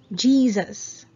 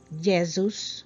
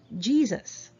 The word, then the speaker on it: Jesus: hear this a lot filipinos say the correct pronunciation is medium medium can you say it again medium perfect 12 jesus jesus so it's not jesus or jesus or jesus so let's just chill and say jesus all right great all right number 13 a